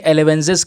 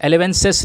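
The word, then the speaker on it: elevenses: इसको प्रोनाउंस करेंगे एलेवेंजिस के तौर पर, एलेवेंजिस, एलेवेंसिस नहीं, एलेवेंजिस। अब ये क्या है दोस्तों,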